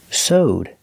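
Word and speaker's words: sewed: is soed that's right it's pronounced with the long o so plus the D sound connected together so owed sowed she swed a dress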